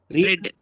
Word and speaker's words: read: இது read னுடைய past என்ன? ரெட். ரெட். இது எப்படி ப்ரொனவுன்ஸ் பண்ணனும்? ரெட்னு ப்ரொனவுன்ஸ் பண்ணனும். இது எப்படி ப்ரொனவுன்ஸ் பண்ணனும்? ரெட்னு ப்ரொனவுன்ஸ் பண்ணனும். இது மட்டும் ப்ரொனன்சியேஷன் மாறும்.